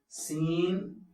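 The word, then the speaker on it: سين: സീൻ, Sheen. സീൻ അവസാനം നൂനിലാണ് അവസാനിക്കുന്നത്. സീൻ. അതേപോലെ ഷീൻ. ഇങ്ങനെയാണ് ഉച്ചാരണം.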